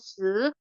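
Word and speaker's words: 四: Nah formula tonifikasi xue yang paling di eee menjadi eee yang paling terkenal di sini adalah si wu tang Jadi S I di sini bacanya se, wu bacanya sama ya.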